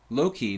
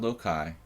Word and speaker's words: Loki: Loki, not Lokai.